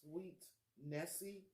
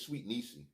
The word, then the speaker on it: Sweet Niecy: Is it Sweet Nessie? I think that's Sweet Nessie. No, I think it's Sweet Niecy. That's how Maurice was pronouncing it.